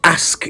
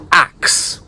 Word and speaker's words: ask: I say let me ask you something how do you pronounce this word a the proper pronunciation of that word is ask not asks a k ask not a x e a now ask means to